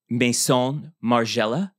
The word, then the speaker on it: Maison Margiela: So we have, I think this dress was actually Maison Margiela.